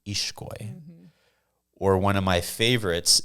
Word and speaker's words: Ixcoy: So the X in the Mayan languages or in a Guatemalan name actually makes the SH sound. So if you have the name that's spelled Ixcoy, people might pronounce it Ixcoy. Ixcoy? It's actually pronounced Ishkoy.